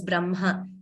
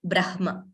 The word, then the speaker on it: Brahma: that way so we we belong to the school where we say it it's pronounced as Brahma not Brahma yes the way you